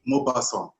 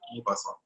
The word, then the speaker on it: Maupassant: Mobasson. The full name is well, don't worry about, yeah, that's it. Yes, that's it. Mobasson.